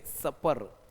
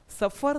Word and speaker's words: supper: इसका प्रोनाउंसिएशन है सपर। सपर, सफर नहीं है, सफर तो अलग मीनिंग दे दे।